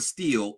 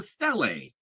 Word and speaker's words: stele: By the way, she keeps saying stele. It's a stele.